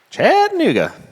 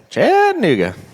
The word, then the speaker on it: Chattanooga: Chattanooga. That's how you say it. Chattanooga.